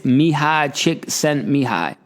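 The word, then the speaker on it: Mihaly Csikszentmihalyi: the book flow his name is awesome it's mihai chick sent me high good name right don't ask me to pronounce that too many times but that is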